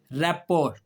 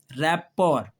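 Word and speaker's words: rapport: रैपोर इसमें भी T silent है। रैपोर लेकिन अब अगला लफ्ज जो है यह अब आपको जाना पहचाना लफ्ज है।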